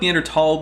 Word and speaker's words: Neanderthal: I go with Neanderthal because I've seen multiple etymologies proposed.